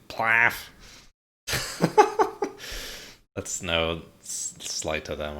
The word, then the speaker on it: PLAAF: How would you pronounce that? Plaff. Conducting. Sounds like some language's onomatopoeia for vomiting. Plaff.